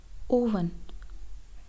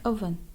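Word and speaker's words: oven: Next word है ओवन, ओवन, जबकि इसका सही तलफ़ुज़ है अवन, अवन।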